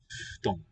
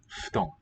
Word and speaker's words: 布団: Oh, note how the FU syllable is sounded. It's a F with a two-lip fricative. この布団は新しいです。 No teeth involved. Here again. 布団、 Futon. Futon.